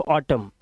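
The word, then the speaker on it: autumn: ठीक है आगे चले साइलेंट एन यहां पर इसे ऑटम नहीं पढ़ना है सिर्फ ऑटम ऑटम मतलब शरद ऋतु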